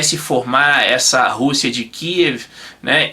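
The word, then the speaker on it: Kyiv: No Brasil todo mundo fala Kiev, né? Mas a pronúncia certa aí é Kiev.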